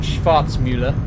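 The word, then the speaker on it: Schwarzmüller: But yeah, that's the Schwarzmuller one is the one that I'm using. Or Schwarzmuller, I should say, if we're going to pronounce it correctly.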